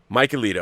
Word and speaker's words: Mikeylito: How is it properly pronounced? Mikeylito.